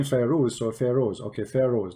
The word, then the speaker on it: Firoz: It is Firoz, not Firoz. How I say it? Correct? Sorry. It is Firoz, not Firoz. Firoz. Because in Arabic, Firoz. you see, in Arabic we use the name Firoz, so Firoz.